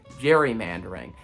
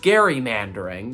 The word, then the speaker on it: gerrymandering: the redistricting process is a phenomenon known as gerrymandering and if you've heard that term before and heard it pronounced the way that i just said it